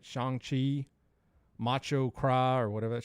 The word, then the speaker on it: Shang-Chi: I'm like, all right, I want to go see I said Shang-Chi because I was like, there's no way they know it's pronounced Shang-Chi.